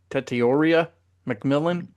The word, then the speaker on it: Tetairoa McMillan: Tetairoa McMillan.